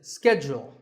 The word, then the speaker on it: schedule: in American English this is scheduled the first syllable is scat and the second is jewel schedule in British English it can be both scheduled or scheduled so you can choose the pronunciation that's right for you number 48 is the